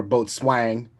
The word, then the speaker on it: boatswain: be reprising my role as boatswain or both swang if you choose to pronounce it correctly as well as I